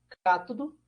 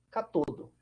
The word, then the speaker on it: cátodo: Os famosos ânodo ou anodo, né? Aí vai da pronúncia, tem vários livros que colocam como um termo com outro termo, né? E o cátodo, ou catodo, né? Vocês vão ouvir os dois também.